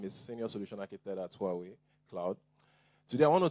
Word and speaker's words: Huawei: Honda and Huawei are some of them. Some say Hawaii, some say Hui, but I think it's Huawei.